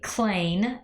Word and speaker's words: Klain: man's name is ronald and i hope i pronounced it correctly clain k-l-a-i this guy ronald klain has stated on